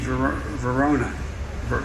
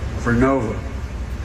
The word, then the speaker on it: Vernova: into turbines made by GE Verona. Excuse me, I mispronounced it. Vernova in Florida, New York. All right, so that's it. We're making wind towers by GE Narova, and he mispronounced it.